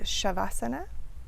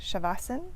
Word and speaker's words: Shavasana: So Savasana can also be said Shavasana, and sometimes you'll hear Shavasana or Savasana, and these are all correct.